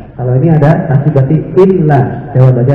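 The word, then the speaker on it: إِلَّا: Jadi kalau ini dibaca illa. Lamnya ada tasdid berarti illa. Ya. Kalau gini nggak ada tasdidnya berarti baca ila. ila. Kalau ini ada tasdid berarti illa.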